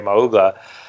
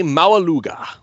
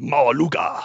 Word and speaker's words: Maualuga: do we have to run and grab Ray Mauga, if I'm pronouncing his name right? Ray Maualuga. Maualuga. Why are we running out with that? You kind of have to say it with that accent, Maualuga, and then it'll work out.